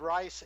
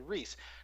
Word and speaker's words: Reiss: much 40 years now, where they do pronounce it Reiss. So I have a tendency when I speak German and Danish to say it Rice, and when I'm speaking English, I have a tendency to say Reese.